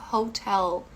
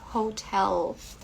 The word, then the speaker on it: Hotel: Lembrando que o H em inglês ele tem esse som mais como se fosse de R, então Hotel, e o L também é bem pronunciado, Hotel California.